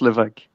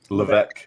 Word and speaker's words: Levesque: All right, clarify the last name. It's pronounced Levesque. Levesque.